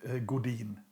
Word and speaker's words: Godin: Uh, God, maybe if it's it's Canadian, so maybe French God. In Nor Norway, we call it Godine.